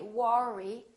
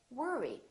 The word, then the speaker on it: worry: to work or worry don't say War II say worry don't worry another one